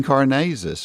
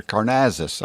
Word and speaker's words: Karnazes: things well we've interviewed Dean Karnazes or Carr Nasus I think is the proper way to say his name and we're going to